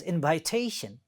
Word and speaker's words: invitation: See there, the first word was invitation, and it had 4 syllables. And the third syllable is stressed, means this one is the stressed.